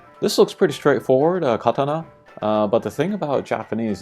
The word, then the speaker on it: katana: Maybe some people would say like katana, but it's katana, it's pretty flat. If anything, it kind of drops off at the end.